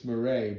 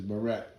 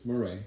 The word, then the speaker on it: Miret: It's Miret, but everybody says Miret, but it's Miret.